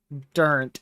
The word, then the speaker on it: Durant: You're saying Same Durant. thing. Oh, okay, Durant. Durint. Durant. No. Got it. Durant, Oklahoma.